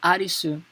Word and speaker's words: Arisu: Is that as I told you already, Arisu is his last name. However, here they are playing how it is the way the Japanese people pronounce the English name Alice, right?